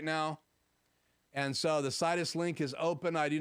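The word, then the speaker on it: Sidus Link: turn on um did you say s sinuses link it's situs link i think is how it's pronounced it's by aputure and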